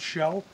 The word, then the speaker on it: SHO: Jaime's 2016 Ford Taurus SH oh now pronounced show as you can see